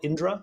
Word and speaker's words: Indra: been working on at Valera is it called Indra is that how I pronounce it yep yep that's right it's named